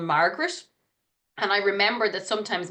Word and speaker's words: Margaret: looking for people called Margaret. And I remember that sometimes Margaret is spelled Magret, as in the way we pronounce it, Margaret, not Margaret.